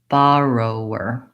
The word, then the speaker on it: borrower: have long short short I can also really practice these short reduce syllables roarr roarr trying to get those more quick and light so that I can have the correct syllable stress rower borrower borrower while